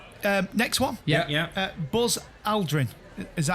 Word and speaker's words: Aldrin: Buzz Aldrin. Is that how you pronounce his surname?